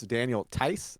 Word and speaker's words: Daniel Theis: So Shadow's saying, "Oh, okay, the H is silent, so it's Daniel Tice."